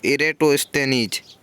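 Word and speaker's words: Eratosthenes: हमने तो एक ही सुना था एजेंट इरेस्ड इरैटोस्थनीज क्या नाम था मैं भी बड़ी मुश्किल से इसका उच्चारण कर पाता हूं फिर भी इरेटोस्थनीज यह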